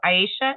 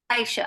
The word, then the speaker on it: Aisha: So Aisha, am I pronouncing it right? Aisha, like Aisha baby.